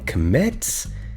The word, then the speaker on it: qametz: This is the vowel name qametz, and it is a long A sound. Ah.